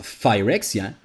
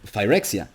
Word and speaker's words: Phyrexia: it with a PH, but pronounced it with the closest sound that was an F, that of Phyrexia.